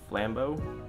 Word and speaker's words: Flambeau: Got in, I think it's Flambeau.